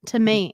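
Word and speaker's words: Tomatin: how you say it tomatan tomatan yeah I said it tomatan tomatan tomate it's the long a okay interesting Tom Toman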